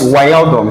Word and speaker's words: Wijnaldum: It's Wijnaldum. It's pronounced Wijnaldum.